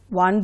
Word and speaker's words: one: is this it's a one rupee coin when you say one the pronunciation is a consonant sound and so you should